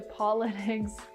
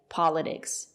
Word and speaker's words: politics: talk about the pronunciation it's not correct to say politics there is a stress after the letter T we pronounce the letter t as T politics politics not politics and now let's talk